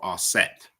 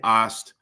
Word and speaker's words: Aset: Upon the fourth day is Isis or Aset. Some say Ast. We may even say Aseta.